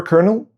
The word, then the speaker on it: colonel: English took the word twice, from the Italian escolonello and from French escolonel. People used both for a while, but in the end everyone kept writing the Italian way, but kept saying the French way.